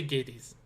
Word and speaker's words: Gades: sinal we' seen is either Gades or Gades however you want to pronounce it I say Gates G you guys in your pronunciations but that's okay I mean there's more than one way to say something exactly most of the